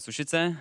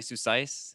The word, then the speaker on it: Sušice: Well, it's a Czech word, and in Czech it's a town. It's called Sušice, but my team's been calling me Susais, but I know the